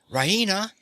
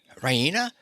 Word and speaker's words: Raina: full of good news rahina she pronounces it Raina with the stress on the E Reina she goes to the